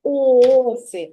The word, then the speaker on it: оси: ми зремо ні оси де більша сила голосу куди падає на перший склад чи на другий на